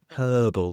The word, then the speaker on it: herbal: you say Mar and in the UK we do pronounce the h so it's herbal tea herbs and spices